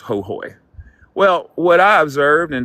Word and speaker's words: Ho: And in Hooy, it's spelled Ho, but it's pronounced Hooy.